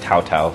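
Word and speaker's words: Cao Cao: Cao, or I guess he's pronounced Tao Tao, even though it looks like Cao.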